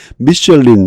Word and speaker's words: Michelin: 미슐린, 이거 이제 우리 보통 미슐랭이라고 하나? 그 프랑스 발음이고요. 영어 발음 미슐린.